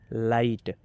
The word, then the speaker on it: light: SIGHT site, LIGHT लाइट, HIGH हाई, इसको हम पढ़ेंगे।